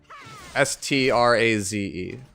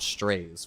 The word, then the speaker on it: Straze: The reason I pronounce his name Straze is because every version of Lilibet has a voice line in the game that refers to him as Straze and not Strays, which is what most people refer to him as.